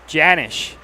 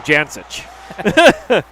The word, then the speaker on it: Janish: dalton phillip here saying the last name of number 33 is janish that's how you pronounce it oh janice jan-ish okay